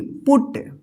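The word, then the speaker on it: put: same you रहेगा और यहां पे अब ओ उच्चारण होगा जैसे यहां पे देखिए पी यू टी पुट देखिए यहां पे अब देखिए यहां पे बी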